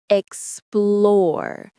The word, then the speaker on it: explore: The stress is on the second syllable. Explore.